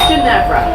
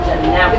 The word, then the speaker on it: Ginevra: It's Ginevra. Ginevra. It's a soft G.